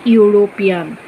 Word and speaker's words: European: The sound is just like Y.